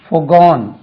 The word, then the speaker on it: forgo: forgo forwent FORE forwent forgone WENT forwent forgone FOREGONE forgone forgoing FOREGOING forgoing forgo உச்சரிப்பு forgo stress lies on the second syllable.